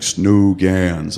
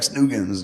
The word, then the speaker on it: snuggans: And he's like, "Snooans?" I'm like, "No, You say it like snuggans."